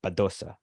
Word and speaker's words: Badosa: Badosa won, or as I should say, because I've started listening to the tennis podcast and they have good pronunciation, and they go Badosa.